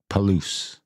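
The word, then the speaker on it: Palouse: Palo Falls State Park Palo rhymes with Caboose perfect paloo Palo the Caboose Day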